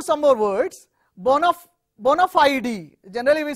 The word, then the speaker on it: bona fide: me give you some more words born of bona fide e generally we say one of ie it's not